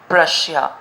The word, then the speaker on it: Prussia: Prussia, Russia हम जानते हैं, उसके आगे हमें P लगाना है and the pronunciation will become Prussia.